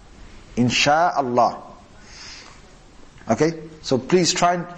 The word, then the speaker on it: Insha'Allah: Or some people say, Inshallah, Inshallah. That's actually wrong. It should be, Insha'Allah, Insha'Allah.